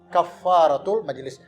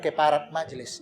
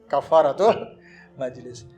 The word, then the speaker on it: kafaratul majelis: di ampuni oleh Allah namanya bacanya kafaratul majelis bukan keparat Majelis Ya nah gitu kafaratul majelis baik Mari sama-sama kita